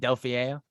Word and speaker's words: Delfeayo: Delfeayo? Yeah. Delfeayo.